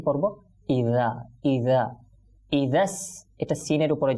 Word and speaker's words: إذا: সুতরাং আমরা কি পড়ব, ইদা ইদা ইদাস এটা সিনের উপরে যেহেতু তাসদিদ তো